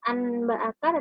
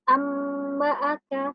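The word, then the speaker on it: أَنْبَأَكَ: Jadi bacanya bukan anba'aka tetapi amba'aka, seperti itu.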